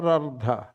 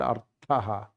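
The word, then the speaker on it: अर्थ: Then why do you say ardha? Artha, that is the meaning you want, yes. Then you pronounce properly. You say it properly. What meaning you want? I corrected myself and I said artha. Then he said wealth. But if you don't pronounce it properly and say ardha, then it is not wealth, it is half.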